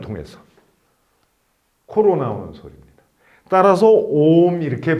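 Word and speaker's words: ओम्: 옴 하면은 이 입천장 높은 부분에 좀 이렇게 울리는 듯한 느낌을 가지게 되실 겁니다.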